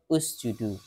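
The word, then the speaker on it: اسجدوا: Kalau dipisah bacanya usjudu. Kalau disambung ikatis judu.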